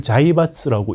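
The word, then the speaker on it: 財閥: 그 한자로 재벌 똑같은 한자를 자이바스라고 읽죠. 우리는 재벌로 읽고 사실 그래서 우리한테 재벌이라는 게 일제시대부터 잘 알려졌던 이야기예요.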